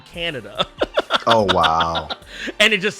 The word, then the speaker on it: Kaneda: But anyways, they redid it, and they did it with the actual proper pronunciations. So Kaneda's name became Canada.